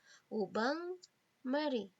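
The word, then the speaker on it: au bain-marie: Tulisannya au bain Marie, tapi dibaca ubang Marie.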